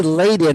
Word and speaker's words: Leiden: So they say Leiden or something, and it's Yeah, like they say it was Layden.